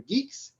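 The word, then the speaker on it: Guix: most exciting project i worked on is canoe geeks yes it's pronounced like that uh well we're sort of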